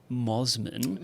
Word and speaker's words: Mosman: pizza shop in the well healed suburb of Mosman. Is that how it's pronounced? Yes. Moman um was was under attack under attack from